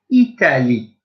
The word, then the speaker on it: Italie: But I'm carrying straight on with Italy, which is I-T-A-L-I-E. Italie. Super. Excellent. Bien. Italie. Great. Good. I'm going to spell it phonetically now.